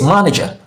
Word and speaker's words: manager: Remember, any word that ends in er, ly, or y is usually stress the first syllable. So since we have manager here, we have the syllables ma, ni, ja. So what is stress? The first syllable. So we pronounce this manager, manager, manager, manager.